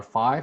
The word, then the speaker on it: phi: uh put them through our phi function which is our or fee function okay both pronunciations are fine and this is basically